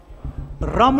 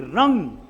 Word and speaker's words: रं: इस मणिपुर चक्र का मंत्र है रम, रम, रम नहीं, रम नहीं, रंग, न और म का उच्चारण होगा, रम।